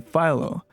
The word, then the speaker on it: Philo: My real name is my real name is incredibly common, but with a non-standard pronunciation, and everyone calls me Phil rather than Philo.